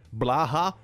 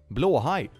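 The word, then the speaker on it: Blåhaj: about blue high they always pronounce it so weird Blaha that's not a word that's not blue high blue high means blue shark blow high God learn Swedish people blow high I'll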